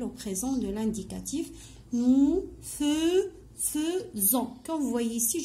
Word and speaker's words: faisons: Nous faisons. Comme vous voyez ici, je vois AI et on prononce E.